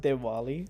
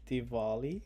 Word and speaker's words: Diwali: we can look okay it's not Diwali it's Diwali I'll put it here this is the right way to say it it's a really big